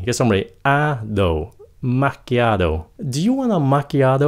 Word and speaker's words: macchiato: Cái này người Mỹ phát âm nó là macchiato. Macchiato. Cái âm đầu tiên đó là mạc, nhẹ thay đừng có mát mạnh quá, just mạc.